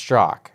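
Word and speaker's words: Straka: Walk Away movement sta I think it's pronounced stro it's spelled sta like Greek or something it's spelled straa but I think everybody have heard says it St yeah okay BR St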